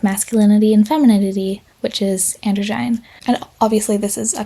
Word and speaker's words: androgyne: Moving on, we've got androgyne, that I always want to pronounce androgen, but I did look it up, so apparently it's pronounced androgyne.